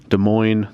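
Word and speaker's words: Des Moines: of Iowa Davenport is in Iowa Iowa City De Moine that's how you pronounce that and I think when I plug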